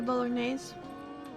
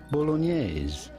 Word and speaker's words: bolognese: Of course, in English or American, you normally say it bolognese. bolognese. Okay. Bolognese, like spaghetti bolognese, but the typical Italian pronunciation is quite different.